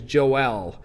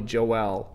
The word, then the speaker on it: Joel: and his name is Joelle and he pronounces it Joelle even though we we think of it as Joel and and the more I think about it the Hebrew pronunciation is probably Joelle but anyway we've got